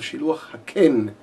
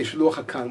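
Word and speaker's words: שילוח הקן: do the mitzvah of shiluach haken. A lot of people make that mistake. They say shiluach hakan, which is not right. They should call it shiluach haken. That's the proper way of pronouncing this.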